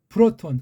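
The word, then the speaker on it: πρῶτον: 프로트, 온, 프로톤. 그런 느낌으로 프로톤을 읽어야지 프로하고 톤자면 틀린 발음이에요. 프로톤, 프로트하고 온인데 프로톤. 그 느낌을 가져야 돼요.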